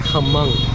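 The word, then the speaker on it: Hmong: the M people are I think they pronounce it hamong there's an H in front of it but they are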